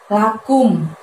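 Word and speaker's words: لكم: Di ayat yang ke-6 diawali dengan lafadz lakum. Kumnya di situ dari pangkal lidah kamu, tapi nggak usah diangkat hingga menyentuh langit-langit ya. Lebih lembut, lakum, lakum. Jadi mulutnya majuin aja karena ada harokat domah di situ.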